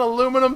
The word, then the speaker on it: aluminum: What the hell's an aluminum falcon? Aluminium. Oh, a lot of people are annoyed about that grammatically. Well, I mean, it's a regional thing.